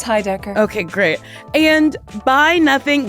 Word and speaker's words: Heidecker: Is it Heidecker? It's Heidecker.